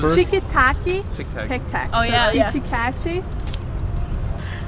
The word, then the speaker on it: Kit Kat: Kichikachi.